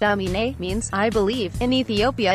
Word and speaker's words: Aminé: to Ethiopian immigrant parents emanate pronounced ami-nee means I believe in